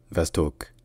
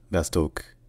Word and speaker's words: восток: siier donc ensuite l'est ça se dit vastok comme en fait à la fin de Vlad Vostock en fait c'est vastoke donc avec un va donc le a est très proche du français c'est pas exactement le même mais c'est proche et ensuite le ha